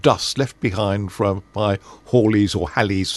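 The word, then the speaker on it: Halley: left behind from by Holly's or Hal, however you pronounce his name. He apparently pronounced it Holly apparently. Yeah. Um Comet, but we all know Hal's comet or even Haley's comet.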